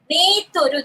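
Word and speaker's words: メートル: Meteru. They pronounce it in a slightly different way. It's meteru.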